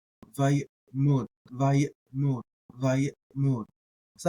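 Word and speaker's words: ויעמד: And so you're doing something like vayet, and if you're gonna pronounce that ayin, vayet mod, vayet mod, vayet mod, vayet mod.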